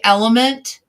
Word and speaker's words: LMNT: Well, it's like, I tell people I drink Element. Mm-hmm. Have you ever had Element? Yes. Yes. In fact, I got it from you. You did. It's LMNT is how it's spelled.